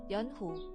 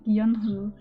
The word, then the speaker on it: 연호: It sounds like a U sound more than an O sound. 연호. Yeah, that really sounds like a U sound. Sounds like Yunhu. Hu. Gotta get that breathy H in there.